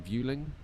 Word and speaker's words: Vueling: Vueling, Transavia, and the Beluga.